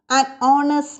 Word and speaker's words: honest: a silent h here h is silent in these words examples an honest made an honorable post